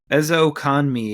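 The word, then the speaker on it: Ezukanma: Ezokanmi is how you say it. Ezokanme. All right. I looked at the pronunciation for it, but he was surprisingly a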